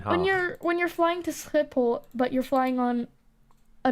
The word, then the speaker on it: Schiphol: Yeah, foreigners can't pronounce. It's like Den Haag. when you're flying to Schiphol, but you're flying on a non-Dutch airline, they'll be like Schiphol. Schiphol, or Skiphole is how I usually hear it it's meant